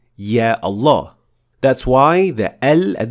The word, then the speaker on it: Allah: We say Allah. We don't say Allah. There is definitely an alif here with a natural mad of 2 harakat.